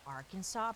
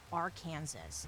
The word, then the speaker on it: Arkansas: Why do we pronounce it Arkansas? Because it's like our Kansas.